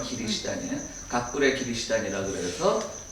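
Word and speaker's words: キリシタン: 각굴의 기리시단은 크리스찬이에요. 일본 발음은 기리시단이에요.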